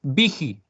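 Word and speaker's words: Büchi: Se escribe Buchi, pero se pronuncia Vigi, ¿ya?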